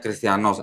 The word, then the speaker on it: Christianos: 5546 ya nih 5546 cristianoz bacanya cristianos Christian ya banyak tulisan